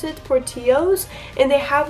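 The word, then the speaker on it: Portillo's: caught porty party owes these that's how you pronounce it forty O's and they have like the famous like Chicago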